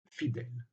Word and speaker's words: fidèles: conscient du fait que fidel se prononce avec un est ouvert et donc il emploie le double elle pour souligner cette prononciation ouvert fidèles après évidemment on distinguera